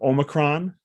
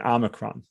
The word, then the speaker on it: Omicron: One thing that we know is there's 2 ways to pronounce it. So Omicron and Omicron.